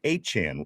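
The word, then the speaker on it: Achane: They were hitting the edges with uh hold on I I I do have to I was mispronouncing it all week. Achan is the guy's name that uh we were supposed to be getting ran all over by.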